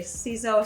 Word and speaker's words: Ciseaux: to pronounce it because it was french it's not english so it was s-e-e-08